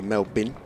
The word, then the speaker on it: Melbourne: the mat distracted about the pronunciation of melbourne which should be mel bin if if i want to sound australian apparently oh yeah fango down